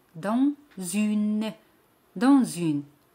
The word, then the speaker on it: dans: Dans significa in o dentro. Dans. Ese al final no se pronuncia.